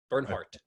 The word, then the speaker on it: Bernhardt: it does it's like do i pronounce the t or do i not you do burn heart burn heart okay yeah